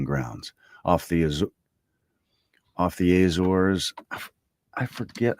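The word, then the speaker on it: Azores: four several cruising grounds off the off the Azors. I forget how to say that. Is that how you say that? Azors. It said it earlier and I've forgotten how to do it. Azors pronunciation.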